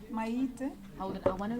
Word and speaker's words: Maite Nkoana-Mashabane: Sorry, Minister, before you go, can I get the correct pronunciation of your name? Maite. Hold it, I want to record it if you don't mind. Okay. So you don't get it wrong. Okay. Maite Nkoana-Mashabane.